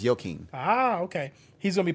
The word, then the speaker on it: Joaquin: Is it Y? Is it a Y pronunciation? It's pronounced Joaquin.